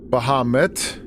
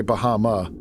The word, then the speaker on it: Bahamut: Now, do you guys say Bahamut and pronounce the T or say Bahama? I tend to stick with Bahama, but I'm sure it's it's probably pronounced Bahamut with the T.